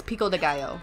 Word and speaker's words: pico de gallo: time like for example they made Pico the Gallow pico de gallo no it's pico de gallo like I have a really bad accent I'm an American I